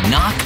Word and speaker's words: knock: letter in kite and a silent k is also the first letter in knock over if you don't look